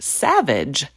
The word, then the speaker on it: SAVIIG: Specifically, it's about becoming a SAVIIG, or pronounced savage, leader.